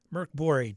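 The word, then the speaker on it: Mörk Borg: Merc Bori, Dark Fort has the Swedish pronunciation. Pirate Bori is English and doesn't.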